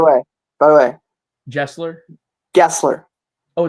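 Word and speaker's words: Gesler: by the way Gessler Gessler oh it's Gessler it is hard G like Jeffrey like the British spelling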